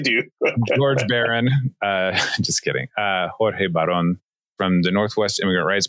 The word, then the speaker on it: Jorge Baron: George Baron. I mean, I know how to pronounce it. I speak Spanish, but I know you do. George Baron. Just kidding. Jorge Baron from the Northwest Immigrant Rights Project.